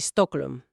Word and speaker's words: Stockholm: Y la pronunciación aproximada sería John Bur y Stocklm.